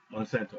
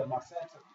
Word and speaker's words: Monsanto: Monsanto. Yeah, Monsanto.